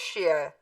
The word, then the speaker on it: Shia: Yes, Iran is Shia, or Shiite. Take your pick, same song, two pronunciations, same word, same beliefs.